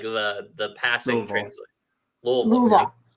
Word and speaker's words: Louisville: Louisville. Good for you. Less syllables. You got to hit the O's.